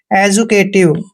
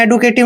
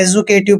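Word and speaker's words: educative: एजुकेटिव, आपने एडुकेटिव नहीं पढ़ना है, एजुकेटिव पढ़ना है।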